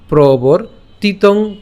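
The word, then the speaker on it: প্রবর্তিতং: এবং প্রবর তিতং চক্রং। ওই যে বলেছি রেফটাকে আমরা কার সাথে উচ্চারণ করব?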